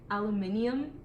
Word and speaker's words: aluminium: Aluminium. That's literally Like that's how it's spelled.